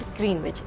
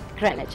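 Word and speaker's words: Greenwich: इट्स नॉट ग्रीनविच, it's like ग्रीनिच।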